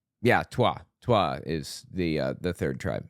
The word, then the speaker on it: Twa: There were the Hutu tribe, the Tutsi tribe, and there's the Twa tribe, I believe is how it's pronounced. Yeah, Twa.